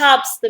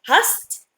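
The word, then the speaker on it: hast: دو مش هابست مثلا، لا اسمه هاست. دو هاست اهو.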